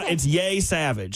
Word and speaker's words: Yesavage: Trey Yesavage. I think that's how you pronounce it. It's Yay Savage.